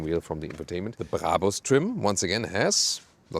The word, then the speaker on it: Brabus: By the way, listen and repeat, Brabus. It's not Brabus or something. The original German pronunciation would be Brabus. Really hard German pronunciation.